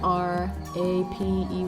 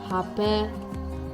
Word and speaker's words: Rapé: And by the way, this is called Hapé, and it's spelled R, a silent R, A-P-E with an accent. It's Hapé, not rape.